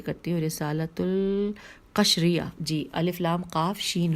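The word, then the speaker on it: رسالۃ القشیریہ: حوالہ ہے رسالۃ القرشیہ، دوبارہ سے ہجے کرتی ہوں، رسالۃ القشریہ، جی الف لام قاف شین رے یہ ہے رسالۃ القشریہ جلد نمبر 1 صفحہ نمبر 214.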